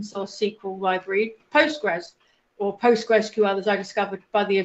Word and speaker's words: PostgreSQL: about the open source SQL library Postgres, or PostgreSQL as I discovered by the founder, it's pronounced, the other week.